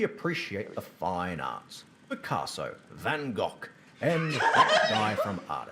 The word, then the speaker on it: Van Gogh: So I've heard of Van Gogh, but not Van Cock. I think it's pronounced Van Gogh.